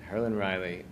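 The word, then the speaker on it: Herlin Riley: Bronson Park the hurin Riley Quint did I pronounce that correctly yes herin Riley um he's a musician from New Orleans um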